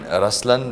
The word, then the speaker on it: Ruslaan: yeah so even in raslan when you say raslan also means the lion it's the attitude of but the right pronunciation is rlan okay there is so